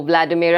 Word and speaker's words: Vladimira: Welcome to the show, Vladimir. I hope I got that right. The pronunciation you actually did.